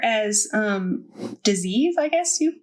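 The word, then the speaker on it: Dis-ease: as Dynamite, 4 as disease, I guess you say that. How do you say it? It's disease. Yeah.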